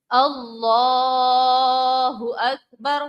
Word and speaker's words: اللہ اکبر: کا خیال رکھنا ہے۔ کھینچنا صرف کس میں ہے؟ اللہ میں، لام کے جو کھڑی حرکات ہے، لام کی مد کو ہم نے کھینچنا ہے۔ کیسے؟ اللہ اکبر، ٹھیک ہے. درست تلفظ کیا ہے؟ اللہ اکبر. صرف اور صرف لام کی کھڑی حرکات کو ہم نے کھینچنا ہے اور کسی بھی لفظ کو یہاں پر نہیں کھینچنا ہوتا ہے.